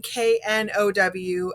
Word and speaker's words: know: that's super important because there is a big difference between k-n-o-w and n-o so k-n-o-w is no like i know the answer an n-o is no